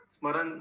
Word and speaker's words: স্মরণ: স্মরণ বলতে বেঙ্গলিতে স্মরণ বলে, স্মরণ। स्मरण। एम इज साइलेंट ना, ऐसे कुछ है ना बंगाली में। हिंदी में प्रभु जी स्मरण ही बोलते हैं। हाँ, বেঙ্গলি में স্মরণ স্মরণ হয়ে যায়।